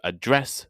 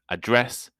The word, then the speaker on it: address: An address is the place where someone lives, while to address someone is to talk to them. To produce is to make something, whereas produce is the things you made. A good tip for this confusing problem is that If the stress is on the second syllable, so address or produce, it is usually a verb.